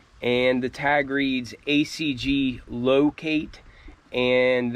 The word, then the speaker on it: Lowcate: But just some ACG branding on the box and the tag reads ACG Locate and that locate is spelled like L O W Kate and these are a size 10.